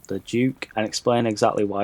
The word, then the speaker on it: Duc: weapon that we all fought was called the doc he's actually pronounced as the Duke we were all saying it wrong this whole